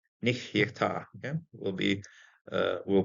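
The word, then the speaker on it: נהיתה: I'm going to pronounce the second shva because first one nich is going to close the syllable. Second one is going to be pronounced.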